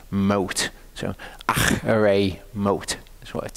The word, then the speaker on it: Acharei Mot: It's more accurate to pronounce it as a H sound, because it's actually a Chet.